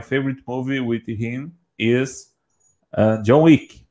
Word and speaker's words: John Wick: John Wick. You can find. Yes. You can find on Amazon Prime. Exactly. Version one, first, second, John third. John Wick. Joey. John Wick. John Bleak.